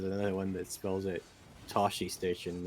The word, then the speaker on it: Tosche: one that spells it Tosche Station. It's Toshe. Oh, okay. Tosche actually.